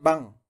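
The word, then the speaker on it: 방: Como aquí está en posición de soporte, está abajo, pues tiene la pronunciación NG. Veíamos que si iba antes de la vocal tenía la función sin sonido, ¿no? Pero en este caso tiene la función NG. Entonces es van.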